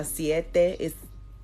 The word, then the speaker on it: siete: Spanish says siete and you see how siete is not siete but it's like a th kind of vibe so siete ocho nueve and